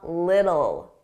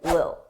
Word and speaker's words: little: Notice I didn't pronounce those T's. I pronounced them as soft D's. A little, little, the, little. And I connected them together, a little, a little. Now, sometimes native speakers will completely drop those T's and they won't pronounce it at all, and it will sound like lil, lil.